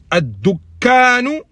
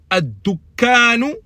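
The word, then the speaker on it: الدكان: Si on enlève le alif lam, il se prononce dukkanun. La shedda, elle est que sur le kaf. Mais quand on fait entrer alif lam, il y a deux shedda qui se suivent.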